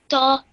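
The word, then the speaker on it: ط: Ta. Okay, nice and nice. Stretch it a bit. Ta. Ta. Well done. Again, this is a nice, thick, heavy sound, and you did that well.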